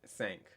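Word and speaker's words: cinq: of sounds like so the i n sound kind of makes that aang sound that sank sank okay yeah so that's why i n usually makes that a sound because it's nasally right sync so the easiest way for me to remember this is just literally just sink okay this reminds me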